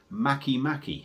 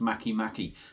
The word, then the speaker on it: MakeMake: the brewery their name Maki Maki so it sort of spelled make make but it's apparently pronounced Maki Maki and this is a